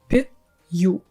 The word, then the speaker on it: пью: I don't pause when I pronounce these words пь-ю. Yes, I'm not doing it, I'm saying it as a whole word. So what happens here? We make softer our п - пь, then before pronouncing the next vowel, we add a little й sound there.